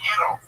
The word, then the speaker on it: gyro: Why don't you go make me a gyro, Giannis? Okay. Whoa. That's out of line. That's racist. That's racist. I'm half Turkish. I did my DNA. I'm a rape baby. So. And it's pronounced Euro.